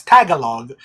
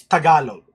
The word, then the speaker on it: Tagalog: Big Jiggly Panda pronounced Tagalog as Tagalog. It's Tagalog.